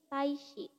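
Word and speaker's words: 大使: Dia dibacanya tetap shi, jadi taishi.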